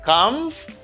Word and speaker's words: comfortable: And for this word, you say comfortable. Comfortable. Do not say comfortable. This syllable isn't pronounced.